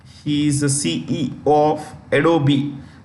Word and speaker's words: Adobe: is the CE of adobe the E is pronounced Adobe okay CEO and